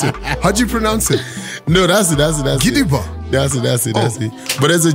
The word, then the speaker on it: Gidigba: So when there's a G-B and an A, it's... The B silent. Exactly. Ah. It's called Gidiba.